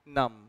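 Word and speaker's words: numb: शब्द है वो है इसमें बी नहीं पढ़ते तम एंड नम तम एंड नम इज व्ट you would say ये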